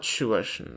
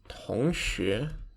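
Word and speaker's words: 同学: to say their classmates not shuversion but tongshi yes be careful and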